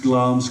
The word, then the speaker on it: Glamis: That's a place, well, it's spelled Glamis Castle, but it's pronounced Glamis Castle, actually, and it belongs to the British royal family.